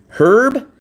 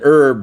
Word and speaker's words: herb: Herb and herb don't sound the same. Look, her herb. Herb. So on the word herb as in the plant, you don't pronounce the H at all.